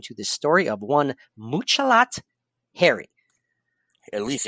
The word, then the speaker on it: Muchalat Harry: And before anyone mocks us for a pronunciation of this man's Muchalat no, okay, that's not it. Muchalat.